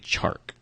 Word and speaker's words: Chark: We are looking at DJ Chark. It's so hard to say his name. Chark? Chark. Because I want to keep saying Shark.